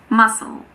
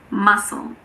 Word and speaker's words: muscle: It's also silent after the S in this word, muscle, muscle. That's just an exception that's important to know.